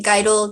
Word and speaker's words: Geidel: name was gary geidel is that how you say his last name geidel everyone pronounces it differently guidol geidel okay you know he